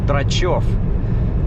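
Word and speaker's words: Drachev: Like in Russian, my name is pronounced DRATCHEV.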